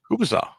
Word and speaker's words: kielbasa: Hey, let's not even get into talking about how you pronounce kielbasa up there, Bobby Nick. Right? Kubasa. Son of a bitch. We had to explain that to Chops. Kielbasa.